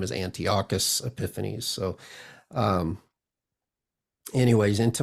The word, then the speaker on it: Antiochus: uh but his correct pronunci pronunciation or pronunciation of his name is Antiocus Epiphies.